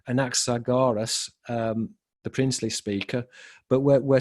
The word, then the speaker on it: Anaxagoras: the Greek tradition, according to Anaxa, let me pronounce his name correctly, Anaxagoras, the princely speaker, but we're seeing that this is equated with panspermia.